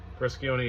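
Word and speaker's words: Briscione: brison brison is that how you say it brison yeah sorry and uh yeah check this out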